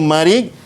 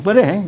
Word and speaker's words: marik: Ejaan dia marik, mim, ra, ya, hamzah. Marik. Okey, dalam jawapan nanti, dalam SPM nanti, jangan tulis mereh.